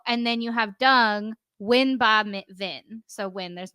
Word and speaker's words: Nguyen: would be Ba Vin Win, for example. Yeah. That's interesting. I don't think I would have ever pronounced Nguyen as Win. Yeah. So like you just fun ignore story, the NGU.